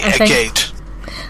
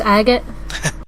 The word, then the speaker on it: Agate: I always want to say Agate. I know, it's spelled Agate, but it's pronounced Agate.